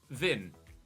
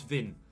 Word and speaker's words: Wind: me signing uh jonas vin apparently it's a hard w with a silent d jonas vin uh could be an